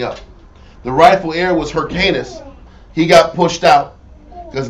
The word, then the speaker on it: Hyrcanus: As for Hyrcanus, I'm saying it right? Yes, Hyrcanus.